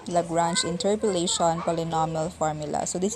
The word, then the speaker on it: Lagrange: lagrange interpolation polynomial formula okay this it is pronounced as lagrange lagrange interpolation polynomial formula so this is still another